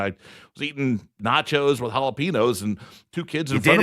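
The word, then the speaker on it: jalapeño: I was in an Indians game and I was eating nachos with jalapenos and two kids in front of me.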